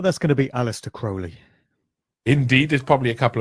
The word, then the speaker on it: Crowley: His name is often mispronounced as Crowley. It's actually Crowley. Ozzy Osbourne did his track Mr. Crowley, where he mispronounced his name the whole time.